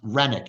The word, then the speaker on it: Renwick: plot um wine of renic spelled Renwick it's pronounced renck and renck um is down on the southern banks of